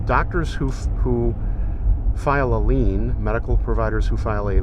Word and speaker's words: lien: who who file a lien medical providers who file a lien l-i-e-n but it's pronounced lean on the wall but